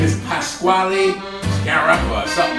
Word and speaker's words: Pasquale Sciarappa: His name is Pasquale Sciarappa or something like that. I don't know. It's pronounced Pasquale Sciarappa.